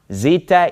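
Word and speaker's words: ζήτα: and then have the three that rhyme Zita eita theta all right so that's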